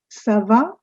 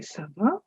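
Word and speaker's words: ça va: asking if all's well so you just say saba please note that little sign under the letter c let's call this cedil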